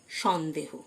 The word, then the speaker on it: scene: Doubt মানে সন্দেহ। C silent. কিছু শব্দ আছে যাদের সি লেটারটি অনুচ্চারিত থাকে, যেমন Saint, SCENT, Saint, C silent মানে আতর। সায়েন্স, SCIENCE, সায়েন্স, C silent মানে বিজ্ঞান। সিন, SCENE, C silent.